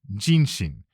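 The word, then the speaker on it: 壬申: Read together these characters can be pronounced ginshin hence ginshin noan.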